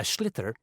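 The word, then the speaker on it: sliotar: get this ball called a schlitter that's s l i o t a r so it's not spelled the way it's pronounced you hit it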